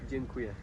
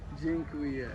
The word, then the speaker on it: Dziękuję: Dziękuję. Dziękuję.